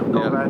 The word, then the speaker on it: Govad: Govad forged wheels? Yeah. Is that how you pronounce it? Yeah, Govad, yeah.